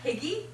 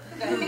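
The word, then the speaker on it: hygge: Is that how you say it? It's not higgy? No, Huga. I think it's Huga, actually.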